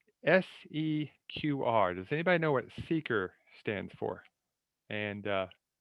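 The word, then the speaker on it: SEQR: does anybody know what seeker stands for and uh i'd really like to know why we pronounce it that way because the cue to me should be a harder sound but what is s-e-q-r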